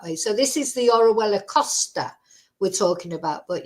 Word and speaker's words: Orihuela: maybe about a they can't pronounce it it's orella orella it's pronounced but uh you know people have a